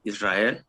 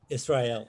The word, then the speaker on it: Israel: name is israel and spanish you pronounce like israel israel okay well yeah i